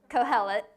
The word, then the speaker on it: Kohelet: Kohelet.